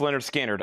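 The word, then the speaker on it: Lynyrd Skynyrd: Leonard Skinner, pronounced Leonard Skinner, Analog Productions, unopened, sealed, $64.99 for Leonard Skinner.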